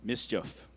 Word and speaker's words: mischief: Dominic, your word is mischief. It could also be pronounced mischief.